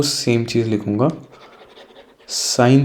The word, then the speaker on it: sin: Okay, short में हम साइन बोलते हैं, SIN। प्रोनाउंसिएशन में बोलने में कोई डिफरेंस नहीं है, बट जब हम शॉर्ट फॉर्म में लिखते हैं ना तो ये ई हट जाता है।